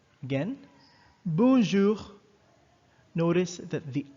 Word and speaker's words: bonjour: we pronounce it as bonjour bonjour again bonjour notice that the r the french r is pronounced differently in french it's like gargling water and the vibration for